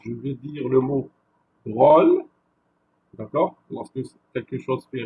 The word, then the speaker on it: drôle: On retrouve souvent un accent circonflexe sur le O qui précède les finales, donc les mots qui se terminent par LE, ME et NE. Lorsqu'on dit finale, ça veut dire que le mot se termine avec ces finales. Ce qui donne un allongement dans la prononciation.